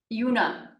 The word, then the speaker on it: Juna: And, is it Juna or Yuna? Yuna, but you can say both. Juna.